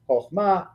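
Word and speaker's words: חכמה: All of these first kamatzes are actually kamatz-katan. They are in closed, unaccented syllables, and so they become an O sound.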